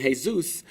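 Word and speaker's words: Jesús: that's like some nickname I know the Spanish guy named hey-zeus but it's pronounced the Spanish way not like the real guy this kid ain't saying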